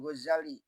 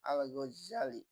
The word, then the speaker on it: Ghazali: Ingatlah nama Imam Ghazali yang setengah ahli membacanya Al-Ghazali, artinya tukang tenun kain atau keturunan tukang tenun kain.